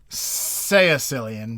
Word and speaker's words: caecilian: Caecilian, basically. Caecilian. Sicilian. Sicilian. Pronounced like Sicilian.